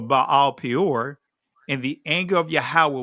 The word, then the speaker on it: Baal Peor: And Israel joined himself into Baal Pa'awar, or that's the ancient pronunciation of it, but Baal Peor, and the anger of Yahweh was kindled against Israel.